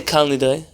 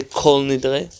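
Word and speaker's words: כל נדרי: Why would someone say Kal Nidre as opposed to Kol Nidre? Aramaic. Very good. In Aramaic, there does not seem to be a kamatz katan, at least not as popularly as we have it in Hebrew. And therefore, we would say Kal Nidre. Yes? Why would other communities then say Kol Nidre? Because there's a kamatz katan in their Hebrew.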